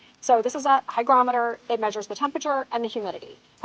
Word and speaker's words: hygrometer: I believe it's pronounced a hygrometer. I kept wanting to say barometer, but that's air pressure, I think. So this is a hygrometer.